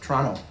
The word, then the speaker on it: Toronto: were you born Toronto Toronto Canadians don't pronounce the T some com guard is